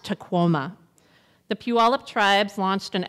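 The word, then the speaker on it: Tahoma: the native language of chutti the mountain is pronounced taoma the puip tribes launched an effort several years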